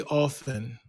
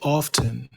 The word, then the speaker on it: often: Most Americans say often. O FN. I say often. Now, previously in the United States, you could say both, but I think most